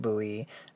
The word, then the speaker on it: Bowie: And yes, I pronounce it Bowie, not Bowie. Either is acceptable, and there's no definitive version of what it should be, which is real indicative of the history of these knives in general.